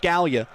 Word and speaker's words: Scalia: It's the same pronunciation as the Italian name Scalia. It's pronounced Scalia.